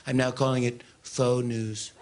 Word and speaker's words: faux: I'm now calling it faux news. It's much classier if you think about it. Very classy. Spelled F-A-U-X. And it's not pronounced Fox.